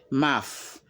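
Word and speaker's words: mouth: O U T H e mais ça se prononce MAF comme vous entendez REP after me MAF my MAF ma bouche ok tong langue my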